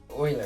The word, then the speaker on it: Euler: Hey, Will, you know they're actually called, Euler angles, right?